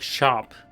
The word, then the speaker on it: scop: SC sounds like SH, so you'd pronounce scop like shop.